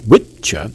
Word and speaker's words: Wicca: I don't think you can say that wickah pronounced witcha is the real name of witchcraft.